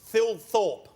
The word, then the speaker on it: Thilthorpe: And it's Thilthorpe. Yeah, perfect. There you go. Do other people have the same morbid fascination with your name than Billy? I don't really understand it. It's said exactly how it's spelt, but people seem to